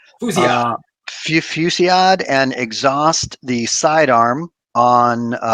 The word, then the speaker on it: Fusillade: I will use a power of aggression with how do you pronounce it? Fusillade. Fusillade, and exhaust the sidearm on Black Cat to deal 5 damage to an enemy.